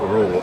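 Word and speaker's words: Ruel: It's spelled Rule, R-U-E-L, Rule.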